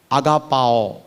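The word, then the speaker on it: ἀγαπάω: Actually प्रेम बोले तो उसकी ग्रीक परिभाषा में वो प्रोनाउंसिएशन जो बोल रहा हूं, अगापाओ ऐसे उसका प्रोनाउंसिएशन है।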